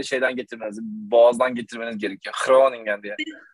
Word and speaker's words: Groningen: Aslında yok, aslında öyle de okunmuyor. Groningen. Groningen demeniz gerekiyor, böyle içten böyle. Oo. Hollandaca'da Hollandaca G böyle inanılmaz, böyle şeyden getirmeniz, boğazdan getirmeniz gerekiyor. Groningen diye.